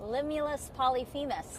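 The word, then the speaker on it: Limulus polyphemus: The one we have here is called Limulus Polyphemis. I say that three times. Limulus Polyphemis.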